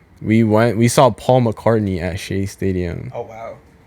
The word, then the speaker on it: McCartney: and and and Paul McCarthy was like right there Paul McCartney Oh how do you say it Paul McCartney Paul McCartney yeah it's not McCarthy no that's somebody else